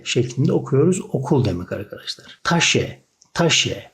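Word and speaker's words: Tasche: Taşe, taşe.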